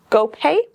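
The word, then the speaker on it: Guo Pei: It's GoPay. I don't know. GoPay. GoPay. Oh. GoPay. How do you spell it?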